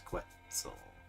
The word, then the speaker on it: Quetzalcoatl: It's Quetzalcoatl. You were, weren't you? I don't like you anymore. That's still not right. That's what Jake said. Quetzalcoatl.